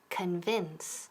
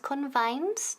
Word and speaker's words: convince: To convince. Ok, repeat. To convince. Y ojo con la pronunciación. No es convince, no. Convince.